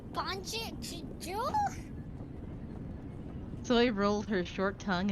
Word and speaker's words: bonjour: Rolled my tongue and pronounced it. She'll be so surprised to see Tay there. Anjul? How do you roll your tongue on bonjour? I know, it doesn't make any sense. Like, what the hell? There's no R sound. Like, I've been pronouncing it with kind of the Dutch Banjul, but Boy, boy. Isn't it bonjour? Bonjour? probably. Bonjour. Okay. Oh, Yeah, it's French bonjour.